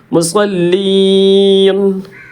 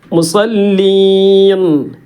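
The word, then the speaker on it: مصلين: അവിടെ ലാമിന് സുക്കൂൻ ഉണ്ടല്ലോ ആ ലാം കൂടി ഉച്ചാരണത്തിൽ ശരിക്കും വരണം മുസല്ലീൻ ആ നൂൻ ഇങ്ങനെ പ്രത്യേകം വെളിവാകണം മുസല്ലീൻ എന്ന് പറഞ്ഞാൽ നൂന് സുക്കൂന്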